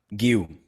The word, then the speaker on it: Guiu: Do you want to tell me the pronunciation of his last name so I don't get it wrong? Guiu.